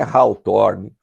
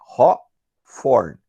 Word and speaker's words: Hawthorne: Vejam, não é Hawthorne, não é Hawthorne, é Hawthorne. Haw de presunto, tá? E TH em inglês tem som de F, então é Hawthorne. E a gente não pronuncia o E no final, Hawthorne.